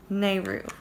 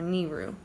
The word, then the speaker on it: Nehru: So, and that one is called Nehru, or Nehru, N-E-H-R-U, however you want to pronounce that.